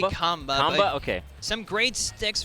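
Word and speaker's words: Qanba: I don't know if it's Kamba. Kamba. It's actually Kamba.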